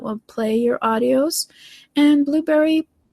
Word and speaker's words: Blubrry: And Blueberry PowerPress, which is it's spelled BLUBRRY, PowerPress.